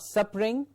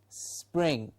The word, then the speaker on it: spring: get spring spring not suffering spring okay just say pring and before pring just put a small s so it is spring yes not sup red